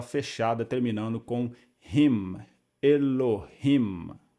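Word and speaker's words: אֱלֹהִים: Então a palavra Elohim, de acordo com essa regrinha aqui didática, ficaria Elohim. 3 sílabas.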